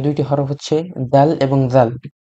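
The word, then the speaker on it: ذال: লাগানোর পরে জাল উচ্চারণ করবেন না, উচ্চারণ করবেন জাল। জাল, এটাও পাতলা উচ্চারণ হবে।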